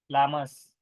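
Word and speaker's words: llama: हैं इसके और इमेजेस उसमें एक एल साइलेंट है लामसन में उसको डबल आ सकता है ये लामा है और ये अल्पे का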